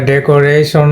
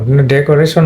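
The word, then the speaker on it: decoration: গেল হলো ট্রাইসিলে এরপরে এটা হলো তোমার এটা ডেকোরেশন ডেকোরেশন এটা হলো তোমার এটা হলো ফোর্স মানে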